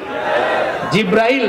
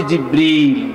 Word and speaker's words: জিবরীল: জানে না সেই ফেরেশতার নাম কি জিব্রাইল না জিবরীল একটু সঠিক প্রোনাউন্সিয়েশনটা আপনারা শিখে যান ওই ফেরেশতার নাম হচ্ছে জিবরীল ফেরেশতার নামটা কি আল্লাহ